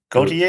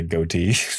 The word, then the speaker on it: Gautier: How do you pronounce that name? Gautier. Okay. I was going to say goatee.